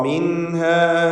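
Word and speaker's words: مِنْهَا: സാക്കിനത്തായ നൂനിനെ ഇൽഹാർ ഹൽക്കി നൽകി മണിക്കാതെ വെളിവാക്കണം. മിൻഹ ജമീഅ ബഅ്ദുകും ലിബഅ്ദിൻ അദു.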